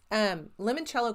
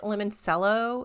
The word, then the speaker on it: limoncello: Is it limoncello? It's lemon and then CELLO, all one word.